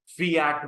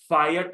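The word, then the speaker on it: fiat: क्या लिखा हु य फट मनी यस क्या नहीं बोलना इसको फायट मत बोलना फिट मनी फिट का मतलब लिख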